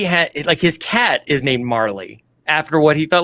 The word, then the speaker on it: Marle: I called her Marley, but it's spelled like Marle, and so all my friends called her Marl, but I always called her Marley.